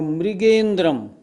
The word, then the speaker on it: मृगेंद्रम: प्रवृत्त इसी तरह मृगी नहीं मृगी मृगी और मृगेंद्रम यह नीचे ऋ है रा नहीं हमेशा ध्यान रखें और आप सब भी